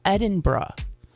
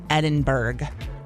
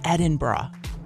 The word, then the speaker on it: Edinburgh: cracks me up to see how many people pronounce this incorrect. It's Edinburgh. It's, you know, the American news anchors who criticize for mispronouncing it in the coverage of Queen Elizabeth's memorial. It's not Edinburgg or Idenburgg as a lot of people say.